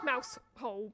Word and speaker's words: Mousehole: a place called Mousehole, which is spelt mouse hole, but we pronounce it Mousehole over here, because we're Cornish.